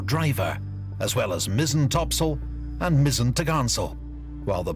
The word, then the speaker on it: topsail: Square sails included the four course four Topsail pronounced Topsail and four top Gallant sale pronounced photogansel on